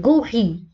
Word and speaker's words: gorille: جي بعدها أو. نحن في الحالة الأولى جاء بعد جي أو، إذا ننطقها جي un gorille un gorille.